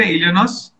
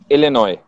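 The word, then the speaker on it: Illinois: मैंने स्पेल सही किया? इलिनॉइस? इलिनॉय। इलिनॉय। S silent.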